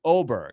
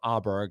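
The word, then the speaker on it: Åberg: other way around no it's actually oberg okay if you say it in Swedish even though it's the the letters are a b r g so when you see it it's Aber Berg or auberg and so you don't really say a in Sweden so the Americanized is auberg and he was actually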